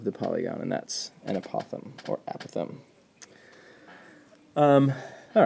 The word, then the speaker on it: apothem: in these problems is this word here apothem or apothem different pronunciations you'll hear and what that is